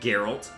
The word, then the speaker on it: Geralt: It's a hard G and Geralt.